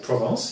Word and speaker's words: Provence: I'm here with Olivier, and we are in the south of France, Provence. I don't say it correctly. Correct. How do you say it? Provence, yes.